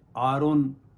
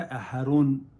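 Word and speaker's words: אהרן: اسی طریقے سے ہم کہتے ہیں ہارون, انگلش والے ابھی بھی کہتے ہیں آرون, لیکن جو ہبرو میں ہے وہ ہے احرون, احرون.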